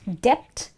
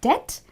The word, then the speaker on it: debt: pronunciations one last time so it's not Dept it's debt do U BT is